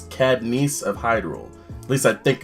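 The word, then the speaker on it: Cadence of Hyrule: It's Cadnice of Hyrule. At least I think it's pronounced Cadnice, to be really honest.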